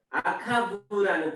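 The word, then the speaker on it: עקב: 발꿈치는 아카부라는 뜻이래요. 아카부. 아카부에서 유래된 말로 뒤에 있다, 뒤에서부터 오다 이런 뜻이고, 야곱을 야아코브라고 해요.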